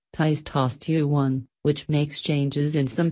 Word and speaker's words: testosterone: At puberty, guys' hearts begin producing a lot of the hormone testosterone, pronounced ties-TOSS-tuh-one, which makes changes in some parts of the body, including the voice.